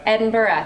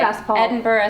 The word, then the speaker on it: Edinburgh: as how it's spelled, a lot of people um pronounce the hard G, but you're not supposed to.